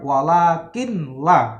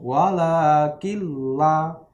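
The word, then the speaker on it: وَلَٰكِن لَّا: Misalkan contoh non mati ketemu lam, walakin la, ya, dia langsung masuk, ya, bukan bacanya bukan walakin la, ya. Nah, tapi nunnya dimasukkan ke lam, langsung walakilla.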